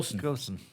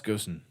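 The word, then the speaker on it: Ghosn: o SN that's like ghost but with an N on the end of it Go Goen Carlos gsen that'll do for now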